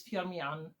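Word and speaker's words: Firmian: And yes, the pronunciation of the of the surname is Fiaman, privileges of local.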